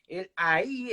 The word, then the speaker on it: ahí: Va a haber diferencia en la pronunciación, ¿verdad? Porque es distinto decir ahí que decir ay, ¿ya?